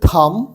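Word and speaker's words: thumb: ইংরেজিতে হচ্ছে এটা হচ্ছে থাম টি এইচ ইউ এম বি এর উচ্চারণ সাইলেন্ট থেকে থাম এটা হচ্ছে ইন্ডেক্স ফিঙ্গার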